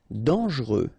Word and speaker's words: dangereux: cruel cruel cruel L dangereux. Final X not pronounce pronounce here. Ok. Dang. Dangereux mort.